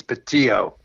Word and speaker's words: Bettio: b d l okay actually the the pronunciation in italian it's patio okay so good old